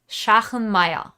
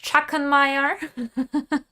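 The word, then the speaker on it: Schachenmayr: webs hold them um the way you pronounce the name if you're german where the company is from is shahen maya not chuckenmeyer um you can say whatever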